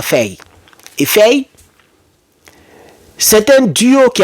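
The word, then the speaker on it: Faye: le duo Ousman et feille ou faille on dit on dit on a on prononce à feille et c'est un duo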